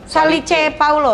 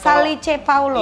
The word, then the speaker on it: Salice Paolo: Salice Paulo. Iya, kan kalau- Salice Paulo. Iya, kan kalau tulisan Itali bacanya sama kita sama bacanya.